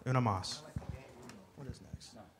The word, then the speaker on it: Una Mas: Did I say it wrong? Una. Una. Not Uno. Uno. Una. Una Mas.